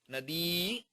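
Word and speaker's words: नदी: Pronounce it right, okay? E. Nadi.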